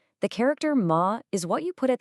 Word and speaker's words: 嗎: The character ma is what you put at the end of a sentence to turn it into a question.